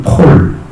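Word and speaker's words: Paul: 바울이라는 사람, 헬라어로 파울로스 이렇게 있죠. 영어로는 폴 이렇게 있습니다. 그러니까 좀 발음이 많이 바뀌었죠. 근데 한국어는 바울 이렇게 있습니다. 파울까지는 이제 바울로 바뀐 거죠. 파울로스 뒷자는 빼고.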